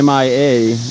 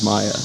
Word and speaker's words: Mia: your name there uh it may be Mia but it's really and your last name is I okay so we are pronouncing the last name right but the first name is Maya so I mean you